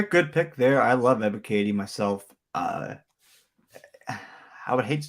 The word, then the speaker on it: Ebiketie: Ebiketie. Ebiketie.